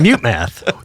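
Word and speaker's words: MuteMath: that no no no the emphasis is on the first word mute math such a great band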